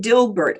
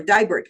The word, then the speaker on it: Dibert: Maxine Dilbert, or Dibert, pardon me, I mispronounced her name, is another Alaska Native woman that came to the legislature.